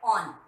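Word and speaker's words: -one: इसके लिए suffix use किया जाता है, जैसे इससे मिलता जुलता दिख रहा है कीटोन, ऑन लिखा जाता है ONE, बट इसको प्रोनाउंस किया जाता है ऑन, वन नहीं ऑन।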